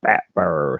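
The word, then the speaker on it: phat fire: Yep, they're called fat fire, spelled with a P.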